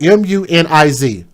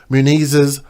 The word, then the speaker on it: Muniz: I cannot pronounce that. M-U-N-I-Z.